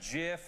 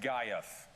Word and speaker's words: GIF: pronounced GIF or GIF, Yeah. and tweet it to us. By the way, you're both wrong. It's pronounced Gaiuf.